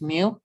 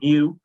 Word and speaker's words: mu: not capital n but when you pronounce it it's just mu yep it's it's mu it's mu it's like